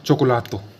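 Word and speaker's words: cioccolato: फिर सी के बाद क्या है ओ, सी के बाद ओ हो तो उसे क्या पढ़ा जाता है को, तो क्या होगा चोको लातो, चोकोलातो मतलब चॉकलेट।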